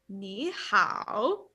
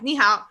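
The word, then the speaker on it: 你好: you learn is like ni hao. So it's like ni hao. No one says that. Just like ni hao. Like it's Yeah, just lower.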